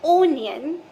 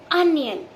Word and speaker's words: onion: हालांकि ये वर्ड ओ से शुरू होता है, यहाँ पे ओ अल्फाबेट की जो साउंड है वो अ की तरह प्रोनाउंस्ड होती है। सो इट्स नॉट ओनियन, इट इज अनियन।